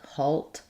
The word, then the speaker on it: halt: Um, so these words rhyme. Um, and they don't follow spelling conventions in that um, insult alt alt halt. Um, I actually do say the L in these words. Um, versus walk. In walk, that L is silent. In salt, salt and halt, salt, halt, we have the the all sound.